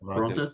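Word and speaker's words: Torrontés: How do you pronounce it? Toronte? Torrontes? Yeah. Torrontes.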